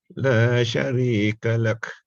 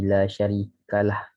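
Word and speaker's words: لا شريك له: La sharika lak. وَبِذَلِكَ أُمِرْتُ وَأَنَا أَوَّلُ الْمُسْلِمِينَ. I'm sorry, sir, but I think it should be La Sharikalah. I heard Kalah just now.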